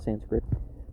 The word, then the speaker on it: Sanskrit: It's spelt samskrita, but people call it Sanskrit, consisting of 4 half